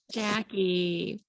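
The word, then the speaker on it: Jaci: you got it right it's a hard C ackie yes yay okay and what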